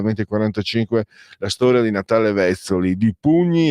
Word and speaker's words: Vezzoli: Dino, Vezzoli o Vezzoli, io vengo dal nord-est, l'accento è sdrucciolo. Allora, Vezzoli, di pugni e di cuore.